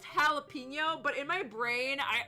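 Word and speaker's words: jalapeño: you have jalopeno I okay I know it's pronounced jalapeno but in my brain I always pronounce it galapo like and then sometimes it comes out as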